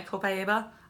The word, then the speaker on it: copaiba: It's my Copaiba.